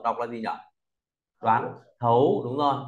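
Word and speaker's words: 亠: là gì nhở đoán thấu Đúng rồi T đọc thành th th u sắc thấu lớ cùng đọc thấu thấu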